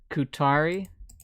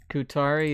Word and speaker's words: ku7ari: those wondering that is Qatari Qatari is this here let me spell it out for you k u7 a RI that is Qatari yes seven stands for T and there is AI